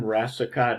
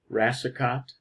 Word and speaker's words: Rassicot: My name, Rassicot, is spelled, pronounced like the first C is an S, Rassicot, and I'm glad you could be with us for this September and October online class.